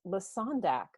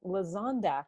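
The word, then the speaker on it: Lesondak: You know, I just heard for the first time just now that your name is pronounced Lasondak. I've been calling you Lazondak this whole time.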